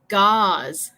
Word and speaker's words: gauze: So, envía tus respuestas aquí y voy a decir como las palabras para que ustedes puedan escuchar la pronunciación. So, number 1, gauze. Gauze.